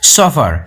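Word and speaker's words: chauffeur: নতুন একটি ওয়ার্ড জানছো সফার ওকে তোমরা স্পেলিংটা দেখে নেবে এবং এর প্রোনাউন্সটা ঠিক এরকম হবে সাফার অর্থাৎ ব্যক্তিগত চালক নির্দিষ্ট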